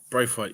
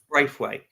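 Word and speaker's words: Branthwaite: you're gonna have to help me with his pronunciation because I believe I've been saying it wrong all day is BR banworth bra Brave weight yeah Brave weight so I honestly thought he would go I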